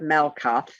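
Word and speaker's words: Malkuth: M-A-L-K-U-T-H. TH is pronounced T. Malkut, not Malkut or Malkut. It's Malkut.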